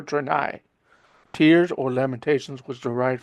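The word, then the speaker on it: Threni: I think the H is silent, so it's treni or trenai.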